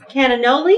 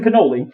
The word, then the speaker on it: cannoli: oh my goodness and cananoli is that what this is it's a cannoli cannoli cannoli i said it wrong yes that's okay yeah